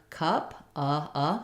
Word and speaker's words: cup: my aval consistent or a fun cup keeping the schwa vowel consistent and then not a